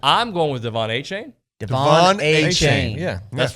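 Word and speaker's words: De'Von Achane: the show I remember that name is is Devon a chain is how it's pronounced I apparently still butchered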